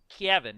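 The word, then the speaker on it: Cavan: counties in Ireland and their accent they say Kevin is how they would pronounce where they're from and it's done in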